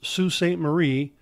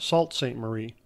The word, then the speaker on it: Sault Sainte Marie: for the Straits and the other one is pronounced SU Sainte Marie which in English looks more like it be pronounced Sault Sainte Marie these forts were in strategic locations to control